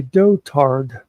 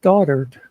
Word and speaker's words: dotard: on the news said he called him a dotard d o t a r d and the first time I heard them say it I thought to myself I could swear that is pronounced daughtered but then all day I kept hear hearing